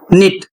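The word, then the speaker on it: knit: अगला शब्द है निट, के एन आई टी, निट सही उच्चारण होगा कनिट का। यदि आप उच्चारित करते हैं तो आप गलत पढ़ रहे हैं।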